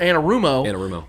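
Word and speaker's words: Anarumo: an answer and no offense to Luan or Anna rumo I said it right yes yep but Patrick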